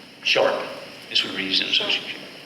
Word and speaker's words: Sharp: Sharp.